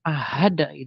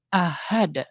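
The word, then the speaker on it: أحد: Jika ahada ada. Jadi bukan ahad tapi ahada.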